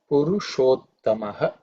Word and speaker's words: Purushottama: So the Purushottama has two words, Purusha and Uttama. The Sha and U together, because of Sandhi, it becomes Sho. That is A and U becomes O. So this Purusha, it ends in A, and Uttama start with U. A, U join together make O vowel.